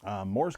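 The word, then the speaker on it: Mors: M-O-R-S Kochanski, K-O-C-H-A-N-S-K-I. But it is pronounced Morris Kochanski, at least as far as I'm aware.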